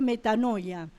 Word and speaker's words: metanoia: Sí, se escribe metanoeo, pero se pronuncia metanoia.